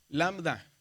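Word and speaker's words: λάμβδα: Es una lambda. Y es, acuérdese, ¿cómo se cómo se pronuncia? Como L, ¿verdad? Lambda.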